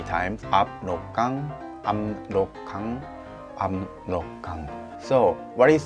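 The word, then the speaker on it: 압록강: So I'm gonna tell you that one, how to pronounce it, the Amrokgang, the most longest river name. Amrokgang. Let's follow me and repeat it 3 times. Amrokgang, Amrokgang, Amrokgang.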